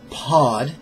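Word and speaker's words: pad: Syllable 4 is pod, P-A-D. Pod.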